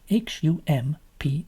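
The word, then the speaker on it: Humph: very very little one though hump it said hump exactly as it's spelled h u m p h because that is how you pronounce hump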